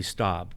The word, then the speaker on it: Staab: I'm pleased to have Tracy Staab.